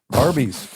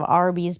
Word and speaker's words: Arby's: But you're thinking of Arby's Beef and Cheddar. Horsey sauce. Oh man. Yeah. First of all, I don't think a everyone realizes Arby's is phonetically spelled RB.